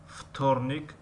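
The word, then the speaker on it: вторник: و در کلمه وتورنیک یعنی سه شنبه، وتورنیک می نویسیم و فتورنیک می خوانیم.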